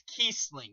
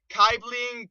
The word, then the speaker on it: Kiesling: Also, if anyone wants to know how to pronounce my name, it's Kiesling, not Kiesling, Kiesling, or whatever else you come up with. It's Kiesling.